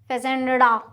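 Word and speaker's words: fazenda: बोलते हैं ठीक है फजेंडा हिंदी में स्पेलिंग मिस्टेक होगा बट आप प्लीज फजेंडा ही बोलते हैं दिस इ द करेक्ट प्रोनंसिएशन ठीक है फिर आता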